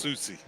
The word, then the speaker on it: Saucy: Saucy is pronounced Susie.